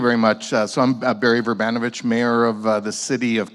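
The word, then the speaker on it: Vrbanovic: Let's begin with the Mayor, Barry Werbinowicz. I got the pronunciation right, finally. All right. Well, thank you very much. So I'm Barry Verbanovich, Mayor of the City of Kitchener in Canada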